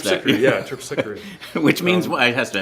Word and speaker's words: Terpsichore: I just, I'm such a huge talking Thank you for saying, I didn't know how to pronounce that. Terpsichore.